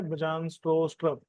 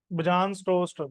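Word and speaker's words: Bjarne Stroustrup: और जो इसके क्रिएटर हैं उनका नाम है बजान स्ट्रोस्ट्रब। ठीक है? क्या नाम है? नहीं समझ में आया? बजाज नहीं भाई। प्रोनाउंसिएशन थोड़ा अजीब है। बजान स्टोस्ट्रप या बयान स्टोस्ट्रप, अजीब सा नाम है ना थोड़ा।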